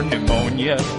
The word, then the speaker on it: pneumonia: G O is for Ouija board P for pneumonia pterodactyl and psychosis Q is for cat Okay